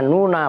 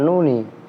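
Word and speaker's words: النونَ: Li'anna hadhihin nuna, awas bacanya nuna bukan nuni.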